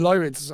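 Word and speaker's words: Lyrids: Did you photograph the Lid meteor shower? Have I said that right? I probably said it wrong. Yeah, the Lyids.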